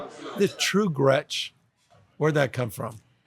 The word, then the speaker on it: Gretch: So, I'm named after both my grandmothers, Gretchen and Esther. Right. Grandma Gretchen always said, "Never let anyone call you Gretch. It is not attractive. It rhymes with wretch."